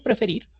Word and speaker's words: prefer: Por ejemplo, el verbo preferir se pronuncia como prefer. No se llama prefer, sino prefer, razón por la cual esa última R sí se duplica.